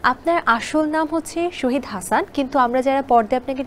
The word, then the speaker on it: শাহিদ: এখানে একটা মানে যেহেতু SHA আমার বেসিক্যালি প্রোনাউন্স এভাবে হবে মোহাম্মদ শাহিদ হাসান, SHA শাহ, HID শাহিদ, কিন্তু যেহেতু আমরা সবাই SHA শ মনে করি, তো সেই জায়গায় সল রাইট, কিন্তু ইনফ্যাক্ট আমার প্রোনাউন্স হবে শাহিদ হাসান, মোহাম্মদ, যেমন জাহিদ হাসান, জহিদ হাসান বলি না কিন্তু আমরা, বিকজ সে ওইরকমই আর কি, মানে আমারটা হবে শাহিদ Hasan. This is my proper pronounce.